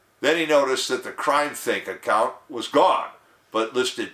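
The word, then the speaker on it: CrimethInc: I kid you not c-r-i-m-e-t-h-i-n-c pronounce crime think or some such thing he described them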